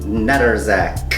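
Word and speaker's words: Nedoroscik: Steven Notarazak, or whatever, Notarazak, how do you say his name? Neterzak.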